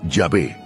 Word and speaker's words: Yahvé: Los estudiosos modernos tienden a inclinarse por la segunda opción, señalando que una pronunciación más precisa podría ser Yahvé.